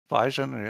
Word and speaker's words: Feijen: Feijen? How do you say that? Niels Feijen. Feijen. It's a it's Y like sound. it's a silent J, Steve. Feijen. No, well, it's a Y. Feijen. That's a Y.